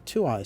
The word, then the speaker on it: Tuaoi: is a reference to something called the twoeyed stone. So, we'll spell it out here because this is Casey's spelling in each reading. It's always in capital letters, so he must have said it loudly. T U A O I.